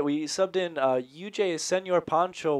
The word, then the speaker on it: Pancho: Pancho, not Poncho. Pronounce that as ah.